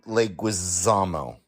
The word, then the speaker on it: Leguizamo: Totally forgot that new girl Zoe Deschanel was in this, and John Leguizamo.